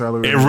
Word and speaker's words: aluminum: aluminium it's pronounced aluminium aluminum it really is pronounced aluminum it it really is pronounced that way that's